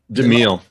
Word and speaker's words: DeMille: DeMille.